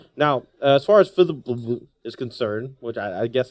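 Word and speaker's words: Fblthp: Fibblethip. Fibblethip? Fibble? Yeah, there's no vowels. Say it again? Fibblethip. Well, it sounds like you had an I in there.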